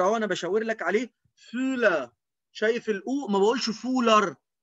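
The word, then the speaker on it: Füller: لانها مش او بس، ده او عليها املاوت فبضم بقي قوي فبقول فولا، فولا، فولا. الكتاب بوخ، اللي تسي ها هنا بتتنطق زي الخه بتاعت العربي كده، بوخ، بوخ.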